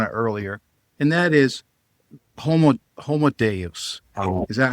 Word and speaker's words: Homo Deus: You touched on it earlier, and that is Homo Deus. Is that how you pronounce it? Yeah, Homo Deus.